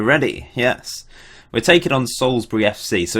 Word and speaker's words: Salisbury: I'm not saying Salisbury like someone might pronounce. I'm saying Salisbury. No one's ever questioned my pronunciation, and I'm married to someone who grew up near Salisbury and and I've got family living there. Salisbury. That's how you say it. Souls.